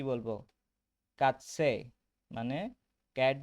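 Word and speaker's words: Katze: কে কে উচ্চারণ হবে কা বা খা, এটাকে কি বলবো? কাৎসে, মানে ক্যাট বা বিড়াল।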